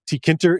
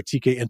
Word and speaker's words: tkinter: resources I know that tkinter is going to be there or tkin however you want to pronounce it and I know